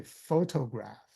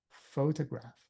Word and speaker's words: photograph: You don't say photograph. The second O, you don't say photograph. You just say photograph because the second O is a schwa.